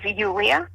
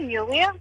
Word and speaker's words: Yuliya: So my name is supposed to pronounce as Yuliya. Ah, okay. Yeah. So I have been pronouncing it properly then. You have been, yeah. So it's like Julia, but with Y, Yuliya.